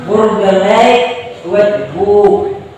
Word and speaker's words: Burgerlijk Wetboek: IJK dibaca E, ya. Berarti kan menurut saya nama bukunya adalah Burgerlijk Wetboek, ya. Burgerlijk Wetboek, ya.